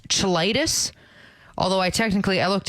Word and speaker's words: cheilitis: Um, so apparently it's cheilitis. Although I technically I looked into how you actually pronounce it. Apparently it's actually ky-litis, but it looks like cheil- cheilitis.